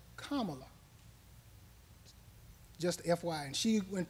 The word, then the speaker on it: Kamala: University now also our vice president is not pronounced Kamala Harris it's pronounced Kamala just FY and she went to uh Howard